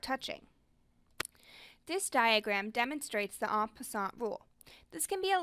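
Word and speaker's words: en passant: move to escape check it is pronounced as on in french it means in passing it is a way for pawns to capture without touching this diagram demonstrates the on passant rule this can be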